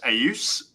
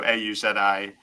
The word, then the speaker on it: Auzi: And in Romanian, it's actually pronounced Auzi, same spelling. So Auzi, it means to hear in Romanian.